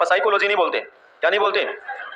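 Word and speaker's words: psychology: बल्कि क्या बोलते हैं साइकोलॉजी बोलते हैं है तो प साइकोलॉजी ऐसे पसा ता ये लेकिन इसको बोलते नहीं हम इसका मतलब समझ में आ रहा है इसका फर्स्ट लेटर साइलेंट है मींस ये 100% किसका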